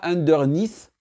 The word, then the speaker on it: underneath: Et pour dire en dessous, pas underneath. Non. Ici, l'accent tonique va sur la deuxième partie du mot underneath. Underneath.